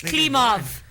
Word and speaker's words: Klimov: But the last name is Klimov. Oh, man. It's Klimov. I can do the Russian accent a little bit. Klimov finished with a 1.247. No, you gotta say it like angry. Klimov. Yeah, Klimov. My boy, Klimo.